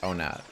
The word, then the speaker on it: Onat: I'm trying to think of how you remember to say it. Onat. Onat. Onat, Onat, Onat. That's how you say it.